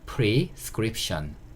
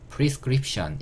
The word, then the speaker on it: prescription: 그래서 prescription, prescription 이렇게 단어가 만들어지고요. 이게 처방전이에요. 다시 한번 읽어보면 prescription, prescription 이렇게 발음하시는 거가 되는 거고요.